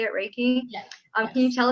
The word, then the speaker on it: Reiki: Is that how you say it, Reiki?